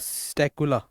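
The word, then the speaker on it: Psittacula: क्या हो जाएगा बेटा स्टकुला पी यहां पर साइलेंट है बेटा स्टकुला का का मतलब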